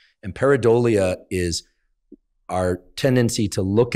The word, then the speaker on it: pareidolia: But the correct pronunciation is pareidolia. And pareidolia is our tendency to look at an amorphous